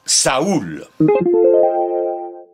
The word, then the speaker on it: saoul: sa s a u l saoul que l'on prononce donc saoul lorsque le mot apparaît dans notre langue au